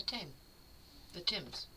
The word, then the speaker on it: Thames: And so then she tried throwing herself into the Thames. That's the British River, right? Yep. Okay. The one that's spelled like Thames, but pronounced like Tim.